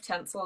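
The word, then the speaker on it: Tencel: little bit further on that yeah i love tinsel as well i've got a couple of products um it's spelt t-e-n-c-e-l yeah for anyone that's watching and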